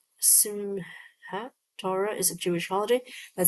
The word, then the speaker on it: Simchat Torah: Or is it Simcha? Do you say Simchat? Simcha? Because it sounds like it could be without the T. Simhat Torah is a Jewish holiday